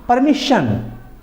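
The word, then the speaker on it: permission: example हम देखते हैं परमिशन आप देखले इसमें परमिशन में लास्ट में एस आई ओ एन है परमिशन के बाद आता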